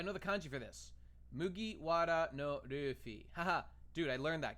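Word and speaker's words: 麦わらのルフィ: This is how you know, and it's pronounced Mugiwara no Luffy.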